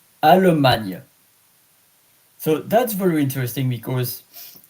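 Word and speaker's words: Allemagne: Almana. A L L E M A G N E. Alman.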